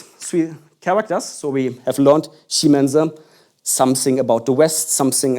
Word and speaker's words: 西门子: I'm pronouncing the character, which is called Ximena. And if you have some ideas, you could say, that sounds actually like Siemens.